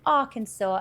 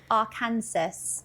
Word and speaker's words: Arkansas: Um why is the state pronounced Arkansas and not like our Kansas or something like that? because it kind of like what what language is it that that knocks off the S on the end?